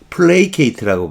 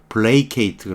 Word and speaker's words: placate: placate라고 발음해요. play 발음도 play. AT2로 끝나면 전전음은 삼음절일 때 쓰는 거고요. 이건 이음절이죠. 그러니까 여기다 강세 주는 수밖에 없어요. placate 그러는데 달래는 거예요.